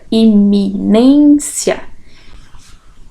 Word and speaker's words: iminência: Ela é uma paroxítona terminada em ditongo, né? A nossa penúltima sílaba tônica, iminência.